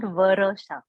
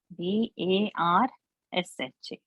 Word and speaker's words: Varsha: Now I will take Let's say my name, Varsha. It is not Varasha. Varasha is not there. Varsha. R is half. Got it? What I'm spelling? V-A-R-S-H-A. So it's Varsha.